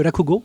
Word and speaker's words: rakugo: Martin Savard, qui était présent à l'événement et qui était un conteur de rakugo. J'ai-tu bien prononcé, Martin? Oui, le rakugo.